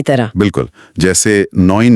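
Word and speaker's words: neun: आखिरी रूल जिसे हमने नाइन में देखा था। इ यू का साउंड हमेशा ओय होता है। नोइन की तरह। बिल्कुल। जैसे नोइन में इन पांच रूल्स को ध्यान में रखेंगे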